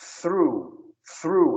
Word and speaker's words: through: TH não é thank you, é thank you. Língua entre os dentes. Então esse through é assim, ó. Through. Repete aí. True.